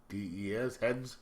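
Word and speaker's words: Hdes: It is a trade paperback called She Bites, written by Hedwig Hale and Alberto, how do we pronounce that? H-D-E-S, Heads.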